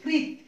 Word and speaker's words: কৃৎ: এটা দেখো আমার উচ্চারণটা কি করছি, আমি বলছি কৃৎ, এটাকে তোমরা অনেকেই বানানে লিখে দাও কৃত, কয়লিকার ত লিখে দাও।